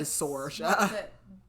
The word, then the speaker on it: Saoirse: I don't know how it's spelled, but I wrote S-O-R, like, so I knew how to pronounce it again. So yeah, I'm going to say Sorsha.